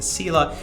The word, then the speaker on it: CELA: You have to understand that I'm a certified elder law attorney, or CELA, pronounced the CELA.